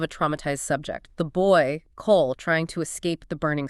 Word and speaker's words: Cole: Cole sounds phonetically like call, as in someone receiving a message, a frequency.